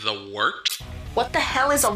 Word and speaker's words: wort: It's pronounced the Wort. What is it? The Wort? Yeah, okay, I'll do that again. This is The Wort on Govs Radio. It is the Wort. Not warts, not forts, not short.